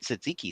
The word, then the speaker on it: tzatziki: But they make it tzatziki sauce, right? So it's a Greek. How do you pronounce it?